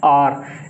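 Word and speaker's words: hour: Like N आर, इसमें एच की आवाज़ नहीं आ रही है, इसमें एन आर। कुछ लोग इसे आवर पढ़ते हैं, कुछ लोग इसे हावर भी पढ़ते हैं।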